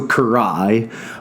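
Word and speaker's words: Carrhae: the first is Kanai the second rhymes with Kanai that's my best attempt so Karai um which is in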